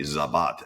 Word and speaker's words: Sabat: people it just became sabath be it should be zabat S z- B- a t but it just became sabath at some point and I joked that